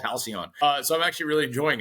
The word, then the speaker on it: HALCYON: How do you pronounce the product? Yeah, HALCYON.